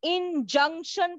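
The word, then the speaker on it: injunction: है डॉक्टर इन जंक्शन मुझे नहीं मालूम आप लोग इसको कैसे प्रोनाउंस करोगे लेकिन इसको इन जंक्शन प्रोनाउंस किया जाता है ठीक है हम कभी भी कोई स्टेशन पर जाते हैं तो जंक्शन आता है ना तो बस इन जंक्शन तो उसे तरीके से इसका प्रोनॉन्सिएशन होगा उसके बाद देखिए मैं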